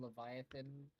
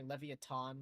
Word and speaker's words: Leviathan: a limited edition ATK Leviathan, sorry Leviathan one. Yeah, it's actually not pronounced Leviathan. It's actually pronounced Leviathan, which is insane.